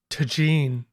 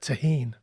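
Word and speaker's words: Tajín: So I think it should be pronounced Tajin.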